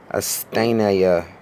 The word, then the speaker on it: asthenia: All right, this word here, the word is pronounced it's pronounced asthenia is how the word is pronounced.